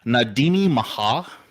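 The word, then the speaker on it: Na Daoine Maithe: usually in like Irish so they call it nadini Maha is what it's called and that's how you pronounce it because I do my research but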